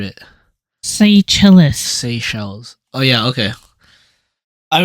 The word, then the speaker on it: Seychelles: That's not Seychelles. Oh. Seychelles. You just butchered it. Seychelles.